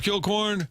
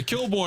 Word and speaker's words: Kilcoyne: Hey, Kilborn, I was going to ask you something real quick. I like Kilcorn. It's 2 syllables. For some reason, the Coyne throws them off.